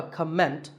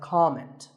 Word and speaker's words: comment: or as a verb the first syllable is always calm so it's never a comment it's a comment word number 11 is